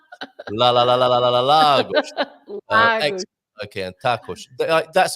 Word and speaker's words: Lagos: Well, congratulations, James, because he did a great job teaching you how to pronounce Lagos. That's very well. Yeah, okay. All right. Lagos. Lagos.